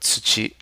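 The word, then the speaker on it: 土: So here we have the character for earth, chi, and its radical is the left hand component, which is right here, soil, pronounced tsuchi, and the radical of a radical is itself.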